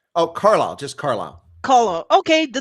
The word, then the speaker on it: Carlisle: the state name how do you say that calliste oh carlisle just carlisle caller okay the name the spelling's